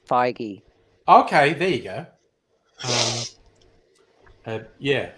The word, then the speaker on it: Feige: feige Kevin feige um yes that's how you pronounce it's feige okay there you go